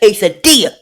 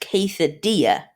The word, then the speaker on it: quesadilla: So anyway, I'm gonna see you when the next quesadilla, or some people call it quesadilla. I know there's 2 L's in there, but guess what? You don't pronounce them.